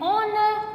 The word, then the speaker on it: honor: She is an honor to the profession. Because here H is silent and the next word is a vowel.